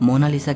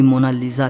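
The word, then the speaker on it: Mona Lisa: सही स्पेलिंग यह है कोई इसे मोना लिसा कहता है तो कोई मोना लीजा कहता है लेकिन इटालियन में इसकी करेक्ट प्रनंसीएशन है मोनालीसा इसका मतलब होता है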